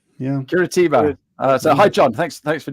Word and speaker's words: Curitiba: Can you pronounce that? Curitiba. Yeah, Curitiba.